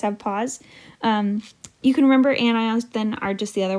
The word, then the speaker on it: anion: you can also remember, because a lot of people will mispronounce this as anions, but it's not, it's anions. But it kind of looks like onions.